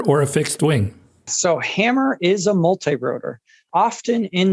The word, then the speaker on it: Hammer: Hammer, we pronounce it hammer like the tool you swing and pound a nail.